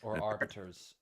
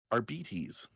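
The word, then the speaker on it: Arbites: What is the correct pronunciation of that word? Orbiters wrong. At least according to Alcat and Alcat usually gets this stuff right because they're probably working with Games Workshop on it. Apparently it's RBTs.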